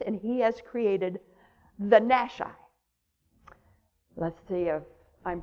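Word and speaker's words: Nashi: their early 20s and he has created the nash i let's see if i'm pronouncing that correctly yes putin's shock force and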